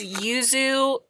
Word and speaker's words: Yuzu: So it's yuzu. You say it like the fruit, but it's a Y-U-Z-U.